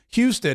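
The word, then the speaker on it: Husted: opens up the way Houston thank you Houston is how you pronounce it uh that opens up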